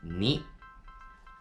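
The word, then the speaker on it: 二: The pronunciation in Mandarin is and in Japanese, ni.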